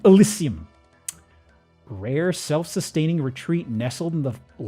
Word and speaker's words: Elysium: That's not how Elysium is spelt. Behold, Elysium. Not Elysium, Elysium.